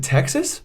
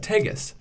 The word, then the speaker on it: Texas: takis and they're like you mean Texas I go that's why I said Tagus Shawn looks amigos spell it and I said T e x is and then he's like he's like this man is actually saying Texas incorrectly and and she doesn't